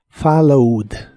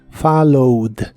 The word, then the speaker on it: followed: e de al final Aunque solo se pronuncia la d followed followed en el pasado lo